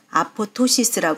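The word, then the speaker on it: apoptosis: 그리스어로 세태 폴링이 뜻입니다 그리스에서는 두 번째 피가 묵음이 ap ptosis 쓰고 아포토시스 발음합니다이 용어는 영국 암 하지에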